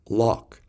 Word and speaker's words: lough: It's off as in rough, ow as in plow, oo as in through, o as in though, aw as in thought, off as in cough, up as in hiccup, ock as in lock.